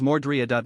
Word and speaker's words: Myrtle: The girl's name is written as Myrtle, but she prefers her name to be pronounced as Mordrea.